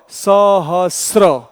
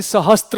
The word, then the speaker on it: सहस्र: स र और अ, इसका सही उच्चारण क्या होगा, सहस्र ऐसा होगा, न कि सहस्त्र होगा, क्योंकि त है ही नहीं उसमें।